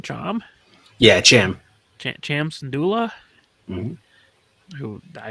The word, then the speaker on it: Cham: is it how do you say his name Cham Cham yeah Cham CH Cham syndulla who I assume is like